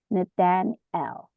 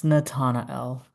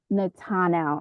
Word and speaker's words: Natanel: your name wrong again Nathaniel L. Is that how you pronounce it? He was we were in the same group. It's Natana L. Natanel I'm so sorry.